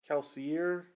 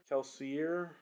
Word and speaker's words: Kelsier: people online pronounce that kelseyer kelsier i don't know i go with a french interpretation and i pronounce it kelsey but i i have